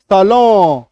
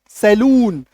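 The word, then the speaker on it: salon: कपन सलो है ना सलून हम लोग अपने देश में क्या बोलते हैं सैलून है ना इस तरीके से बोलते हैं हालांकि ये सही उच्चारण नहीं है सही उच्चारण ये है आपको याद रखना है ठीक है सलो वो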